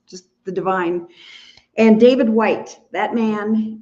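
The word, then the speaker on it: Whyte: and um just just the Divine and David White that man it's spelled w-h-y-t-e he's Welsh so to listen to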